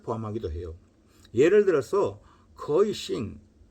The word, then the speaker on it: 行: 행은 싱 그러니까 싱 이제 중국어니까 싱으로 발음을 하죠.